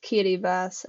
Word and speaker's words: Kiribati: bass um or if you could call it kirati if it makes it easier to memorize I might call it that just to help memorization but it's pronounced KY bass I actually looked up uh so in the